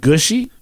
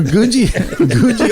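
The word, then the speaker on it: Googie: Gushy? Gouji. Gouji. Gouji. Not Gucci. Not Gucci. It's Gouji.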